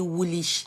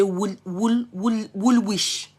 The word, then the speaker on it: Woolwich: When I got to London, when they showed me Woolwich, I used to say Woolwich. Now later they correct me saying now Woolwich, not because Greenwich. Now later they told me it's Greenwich.